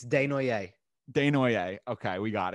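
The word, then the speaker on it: Desnoyers: of course say it directly so it's it's de noire de noiere okay we got it he plays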